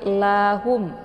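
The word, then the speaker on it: لهم: Bukan "ahum", tapi "la hum", ya. Bunyi "la" dibaca singkat, lalu "hum".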